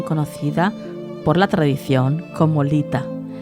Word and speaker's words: Litha: por la tradición como Lita pronunciado lit a significa fuego es la